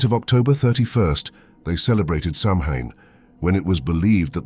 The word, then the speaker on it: Samhain: date back to the ancient Celtic Festival of Samhain pronounced sawin the Kelts who lived